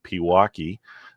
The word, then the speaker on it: Pewaukee: for those of you that may not know Pewaukee uh that is how it is pronounced is west of Milwaukee uh at the